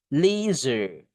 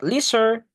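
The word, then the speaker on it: leisure: Lizer not lizarder. It is S-nya itu kayak tebal lebih ke Z tapi enggak zz benar, ya.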